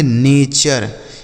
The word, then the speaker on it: nature: NATURE इसे पढ़ेंगे नेचर, क्या पढ़ेंगे मेरे भाई, नेचर।